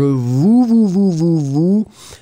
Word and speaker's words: vous: I would go for a rounder ou. I mean, if we really want, alors attendez une seconde, if we really want to try to find something, the who should be maybe a bit rounder. Je vous. So you really need to make it round.